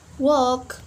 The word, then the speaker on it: walk: Another example, like talk, walk, we not pronounce the letter L because after letter L we have K letter.